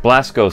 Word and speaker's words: Blasko: Ferenc Dzso Blasko. Blasko seems like it's right. Blasko is right. The rest, I'm sure I butchered. Probably Blasko, actually. Yeah, since it's Hungarian.